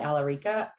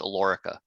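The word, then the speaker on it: Alorica: role of senior director in his role at alarica his teams are responsible for planning forecasting scheduling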